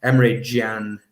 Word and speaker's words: Emre Can: Yeah, it's Emre Can, as they call him here in Germany, and the correct way of pronouncing his name.